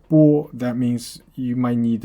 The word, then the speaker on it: 剥: Now this character has a second pronunciation. It's called 包. So, well, 包 is a colloquial way of pronouncing the character, which specifically means peel, skin it off, skin something, or peel off.